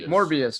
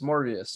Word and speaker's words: Morbius: I guess Morpheus I don't know how to spell it right it's not on Marvel Morpheus morbius yeah yes it is it is Marvel is